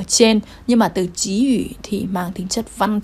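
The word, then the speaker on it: 给予: chữ này đằng sau chúng ta đọc chữ này thành chí ủ chí ủ bây giờ đọc thành chỉ không đọc là cẩy nữa nhá chí ủ cũng nghĩa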